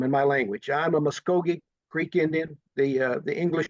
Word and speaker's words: Muskogee: The V as in Victor is a vowel in our language that's pronounced very very similar to the American or English UH.